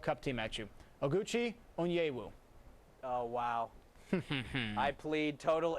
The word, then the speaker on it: Onyewu: the usa world cup team at you oguchi onyewu oh wow i plead total ignorance i know